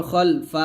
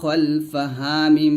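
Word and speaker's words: خَلْفَهُمْ: জবর ফা ওয়া মা খলফাহা মিম পেশ হুম ওয়া মা খলফাহুম একসাথে পড়েন ইয়ালামু মা বাইনা আইদিহিম ওয়া মা খলফাহুম ওয়া মা খলফাহুম খালফা বলবেন না খ মোটা করে ইয়ালামু মা বাইনা আইদিহিম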